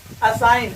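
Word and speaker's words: assign: असाइन, असाइन में जो है जी साइलेंट होगा।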